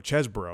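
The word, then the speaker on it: Chesebro: is always good uh Kenneth cheeseboro chesboro because pron people have been pronouncing it cheeseboro like a cheeseburger type thing and and Sydney Powell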